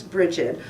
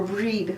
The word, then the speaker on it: Brigid: season and it celebrates the goddess Brigid or breed would be a more appropriate way to say her name Christian's ended up taking